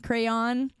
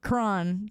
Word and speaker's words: crayon: Crayon. No, I say crayon. But if you're from the south, you say it like crown.